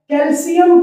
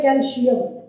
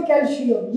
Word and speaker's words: कैल्शियम: Next हमारा example है कैल्शियम carbonate. कई बच्चे या टीचर्स भी इसकी प्रोनाउंसिएशन में गलती करते हैं, इसे कहते हैं कैल्शियम। इट्स नॉट कैल्शियम, ये कैल्शियम है।